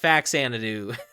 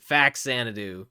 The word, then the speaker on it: Faxanadu: But I think phonetically it makes no sense because you would not say fa-macom. Like, you do not say that. You say fam-acom, all right? So similarly, it's not fa-xanadu. It's fax-xanadu for that same reason.